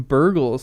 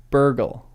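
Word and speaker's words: Bergil: Burgle. Help me with pronunciation. Burgle. Burgle. Burgle. Bart. The G is hard.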